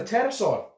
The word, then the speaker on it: pterosaur: Yeah, it must have been from the pterosaur. I didn't notice at the time because the P is silent.